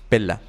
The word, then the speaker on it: Pela: Tenemos a Cuadrato, Aristide, Tasiano, Aristón de Pela, o Pella, padre, corríjame allí la pronunciación. Pela.